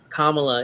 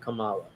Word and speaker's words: Kamala: mispronounce their name but I'm guessing Kamala is the right way to pronounce it not Kamala it's a hate campaign